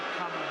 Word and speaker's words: Kamala: You have to pronounce it Kamala.